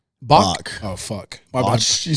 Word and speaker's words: Bach: How do you say it? Is it Botch? Bach.